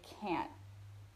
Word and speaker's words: can't: Can't, we often in American English, we don't say the t sound at the end of the word. We say can't. I can't. And it's kind of a nasal, like in the nose sound.